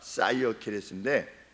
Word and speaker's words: Cyaxares: 저도 사이어케레스를 이거 어떻게 읽어야 되는지 몰라서 CYAXARES 처음 들어보는, 그래서 인터넷을 통해서 계속 반복해서 들었어요. 왜냐하면 발음 기호가 안 나와요. 그래서 이렇게 계속 들어가지고 해보니까 사이어케레스인데, 이 사이어케레스가 누구냐?